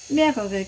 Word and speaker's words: mehrere: Mehrere Karotten. More carrots. Mehrere Karotten. Or multiple carrots. That's the right way to say it in English. Mehrere Karotten. Mehrere. Re. It's like the R in the back.